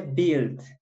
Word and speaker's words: build: y construir en inglés se dice bild beatles como podemos ver se escribe build pero la u no suena solamente suena videns bills